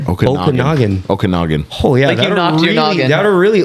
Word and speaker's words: Okanagan: I forget the name of the lake lake Okanagan Okanagan how big is the lake 70 M